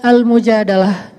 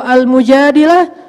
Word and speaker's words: al-Mujadalah: betulkan terjemahannya Chung curhat kalau al-mujadilah perempuan yang curhat kalau al-mujadalah curhat Jadi tergantung kita bacanya bilang atau darah kalau kita baca Mujadilah berarti perempuan yang lagi curhat curhat kalau kita baca Al Mujadalah berarti curhat itu sendiri surat al-mujadalah berkisah tentang